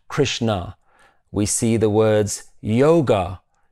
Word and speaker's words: Krishna: The word Krishna is actually in Sanskrit Krishna. The a at the end is just the full pronunciation of that last letter na, Krishna, but not Krishna.